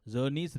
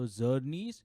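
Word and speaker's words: Czerny: Talking about the next retractor is Zernies retractor. Remember, the C is silent. So Zernies, it almost starts with a Z.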